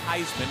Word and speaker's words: Heisman: He was tackled by Cody Heisman. And yes, it is pronounced Heisman, like the Heisman Trophy.